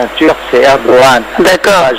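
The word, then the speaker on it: Erdoğan: En turc, c'est Erdogan. D'accord. Le G se prononce en H.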